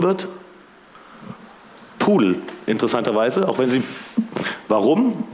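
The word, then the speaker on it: PDAL: Es gibt Ogre und es gibt Gudel. Das sind zwei klassische Bekannteile. Gudel heißt Gedal, was wir alle als Gedal kennen. Und das soll sich darauf reimen. Gudel, die Schöne und das Biest. Ogre, Fiona, vielleicht schon mal gehört. Pudel, spricht man es aus.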